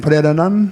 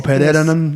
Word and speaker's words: Pererenan: And I believe that on Friday, that's in Pererenan. Yes. Or Pererenan, Yes. depending how you want to pronounce it.